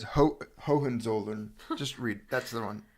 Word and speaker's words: Hohenzollern: It's Hohenzollern.